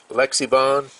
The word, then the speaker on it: Lexivon: cardboard box but now this Lexi Lexi bond is how you pronounce that never heard of them